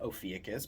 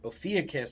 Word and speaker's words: Ophiuchus: Depends on how you want to pronounce it. I pronounce it Ophiuchus, but the symbol or the constellation is of a person wrangling a snake.